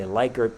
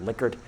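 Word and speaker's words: Likert: these that's a Licor scale some people say lker but it's actually pronounced liquer named after the American psychologist rensis liquer how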